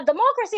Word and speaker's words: democracy: Now, democracy has three syllables, but of course, we're stressing the second syllable. Democracy, not democracy. The O there sounds like R in orange.